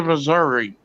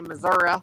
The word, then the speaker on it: Missouri: Carolina Hillbilly used to say Missouri, and I'd say it ain't Missouri, it's Missouri.